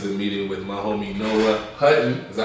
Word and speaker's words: Noah Hutton: First happened of the day, I told y'all, get into the meeting with my homie Noah Hutton.